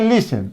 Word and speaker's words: listen: तो सामान्य रूप में जो लिखे हैं उसको हम उच्चारण करें तो क्या करेंगे, लिस्टेन, लेकिन यहां देखिए टी जो है वो साइलेंट हो गया ना।